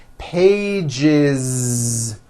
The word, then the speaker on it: pages: One page becomes two pages with that voiced Z.